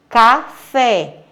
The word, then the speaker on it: café: Café, ela é classificada como oxítona. Mas por quê? Porque a sílaba tônica é a última, fé é a última sílaba.